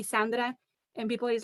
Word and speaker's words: Sandra: i introduce myself i i say sandra because i know that's how you pronounce it in you know like american canadian english but my name is not sandra my name is sandra it's different even though you spell it the same way it's different and i do it